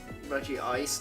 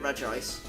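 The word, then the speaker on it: Regice: No, because it's spelled like R E G I C E. So it's just re ice. For some reason they didn't make it Reggie ice. They just made it red ice.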